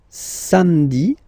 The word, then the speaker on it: samedi: Then, samedi, samedi, don't insist on the hein?